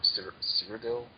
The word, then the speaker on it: Cyrodiil: the fine details of the wonderful world of Cyrodiil. Is that how it's pronounced? Cyrodiil. Cyrodiil, yeah.